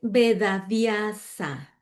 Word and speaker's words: Vedavyasa: Ok, es Vedavyasa. No cambia nada, así está escrito.